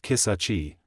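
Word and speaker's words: Kisatchie: And quick note, because people ask this all the time, it's pronounced kisachi, not how it looks on paper.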